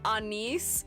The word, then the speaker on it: anise: It sounds better when you say it. Anise. It sounds cuter and it sounds more like a name. But I always grew up, my whole family always pronounced it as anis.